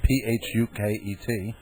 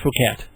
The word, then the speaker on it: Phuket: There's also a big place in Thailand spelled P H U K E T. No, that that is actually pronounced Phuket.